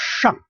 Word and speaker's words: 上: The pronunciation for sh, you may remember it's 上. Curl the tongue backward a little bit. 上.